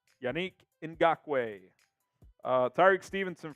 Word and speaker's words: Yannick: watch get some shout outs here please it's pronounced Yannick it's actually not it's Unique we found that out yanique yanique in gakway uh Tariq Stevenson from Anthony Brady